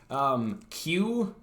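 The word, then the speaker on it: Que: So the cube is Q. It's spelled Q-U-E.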